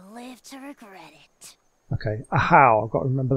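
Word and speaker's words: Ajaw: to regret it okay a how I've got to remember that's how you pronounce his name not not aor a how if you're done arguing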